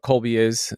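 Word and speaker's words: Kolbe: you don't know what Colby which is spelled with a K, you truly haven't lived.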